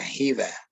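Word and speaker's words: חוה: have heard of eve that biblical name eve is pronounced as a hiva in hebrew so if you're reading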